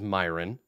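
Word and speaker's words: Myrenn: His name is Myron, but it's spelled MY''RENN.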